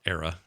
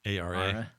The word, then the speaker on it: Ara: It's not Era, right? ARA. Ara, History Untold.